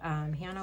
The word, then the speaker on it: Jana: This tracker is by Hannah with Prop Budgets, which recently I just read on Instagram that her name is actually, it looks like Jana. It's with a J, but it is pronounced Hannah.